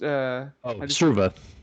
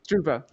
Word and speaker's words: Struva: And Professor Struvia, how do you say it? It's just Struva. Struva.